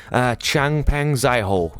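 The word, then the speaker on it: Changpeng Zhao: Changpeng Zaiho, if you want to pronounce it properly.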